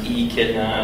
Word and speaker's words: Echidna: So I'm from Digital Echidna. So Echidna is pronounced E-Kidna as opposed to like Echinacea or Enchilada.